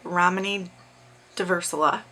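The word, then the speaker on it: Ramani Durvasula: For reading updates, I finished It's Not You by Ramani Diversala. She says her name on the thing, so I know how to pronounce it now.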